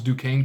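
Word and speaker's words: Duquesne: But the fact that they actually that we can actually pronounce Dukane correctly is kind of remarkable.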